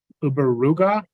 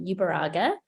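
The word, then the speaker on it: Uberuaga: will be um uberuga and Sarah buccich and I apologize if I've not said those correctly that's okay thank you it's it's uh bask name my name is ubaraga it's spelled u-b-e-r-u-a-g-a and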